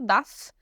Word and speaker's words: dass: muito importante é que não há diferença na pronúncia tá tudo das igual como essa com dois s então na escrita tem diferença mas na fala né A gente só vai saber a diferença entre eles pela pela contexto mesmo né porque a pronúncia vai ser igual Tá e agora eu